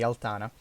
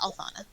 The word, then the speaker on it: Althana: Okay, Altana. Am I pronouncing that right? Yes, Althana. Althana.